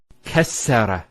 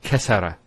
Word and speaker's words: kassara: And you can actually feel it the way it's pronounced. Kassara instead of kassara. So once again, there's the kaf, followed by 2 scenes, and then the ra. So kas, sukun, sara. Kassara, not kasara.